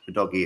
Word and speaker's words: Udogie: Udogie is how you pronounce his name.